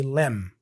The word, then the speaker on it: limb: And remember that in pronunciation terms here, we don't pronounce the B, okay? We don't say limb, we say limb.